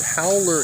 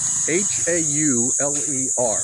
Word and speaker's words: hauler: And I may have mentioned this before, but howler is spelled H-A-U-L-E-R. So we pronounce it hauler, they pronounce it howler.